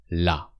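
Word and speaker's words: là: It sounds exactly as the feminine the but it means there la.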